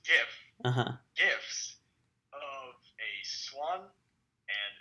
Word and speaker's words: GIF: Where we have two, and yes, it's pronounced GIF.